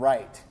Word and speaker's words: write: English speakers because because that W in front of right doesn't really make any sense does it right you don't hear a real difference between the first syllable of read and write right no difference between